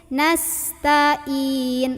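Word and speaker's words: نستعين: nas nas nasahnya ya nastainin lah kok in Nah itu kesalahan yang berikutnya Ain lagi hati-hati di Ain jangan in ketukur sama Hamzah tapi Ain Tin gitu nastainin tainin tainin Oke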